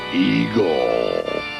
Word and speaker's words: Igor: Appalling's laboratory assistant, Igor. That rhymes with Seymour.